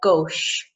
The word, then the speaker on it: gauche: pick up on here we've got the CH sound now in English we would pronounce that as a but in French is Shh so it's a gauche okay so it's recap we've